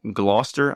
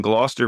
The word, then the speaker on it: Gloucester: lived in is pronounced Gloucester I believe it doesn't look like it's pronounced that way but I have listened